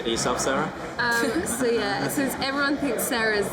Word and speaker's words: Sara: Since everyone thinks Sarah's like a British name, it really isn't. But it's just pronounced Sarah, so it's just a roll of the R's.